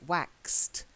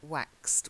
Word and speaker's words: waxed: Then again, the A sound rather than A, waxed. It waxed.